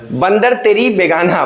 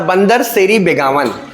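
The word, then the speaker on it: Bandar Seri Begawan: बंदर तेरी बेगाना। मतलब बंदर सेरी बेगावन।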